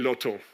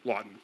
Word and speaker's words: Lawton: The Lawton name is still there, and members of the family still run a brokerage business called Testé et Loto, as the French pronounce it, but Lawton from Cork.